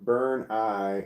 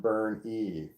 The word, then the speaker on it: Bernie: Bernie La is correct my name is pronounced burn I not burn e me